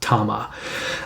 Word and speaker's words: Tamashii: If you look at it, it looks like it's spelled Tamashii, but it's actually pronounced Tama.